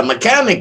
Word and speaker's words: mechanic: unacceptable all right yeah mechanic you got that right the h is silent what does a mechanic